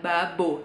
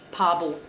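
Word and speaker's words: 바보: show yaitu itu kan tulisannya sebenarnya Babo gitu kan Tapi ini bacanya sama mereka nggak Babo tapi bubble bubble mungkin depannya itu tetep percampuran p sama B ya tapi p nya rada lebih jelas jadinya ya Terus yang selanjutnya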